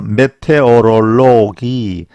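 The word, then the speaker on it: Meteorologie: 그래서 메테오롤로기 그런 사람을 메테오롤로게 메테오롤로긴 이렇게 발음을 합니다.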